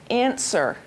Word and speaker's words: answer: to point out answer there's one letter that's silent what is the silent letter W right so when we say it you say answer okay great so one